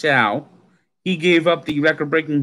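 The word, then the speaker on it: Show: Now, his name, it says Schau, but his name is pronounced Schau.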